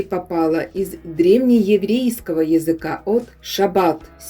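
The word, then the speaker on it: שַׁבָּת: из древнееврейского языка от «шаббат» – 7-й день, когда нужно воздержаться от работы. «Шаббат» – так произносится это еврейское слово, означающее покой и отдых.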